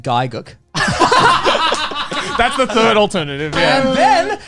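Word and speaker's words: Gigguk: Giguk. Wait, did you pronounce it Gig UK like everyone else? I said Gaiguk.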